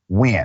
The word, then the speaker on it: Nguyen: It is spelled Nguyen, but pronounced Nguyen.